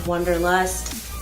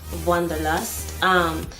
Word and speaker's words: Wanderlust: Wanderlust is how Americans usually pronounce it, but it's a German word and it's pronounced Wanderlust.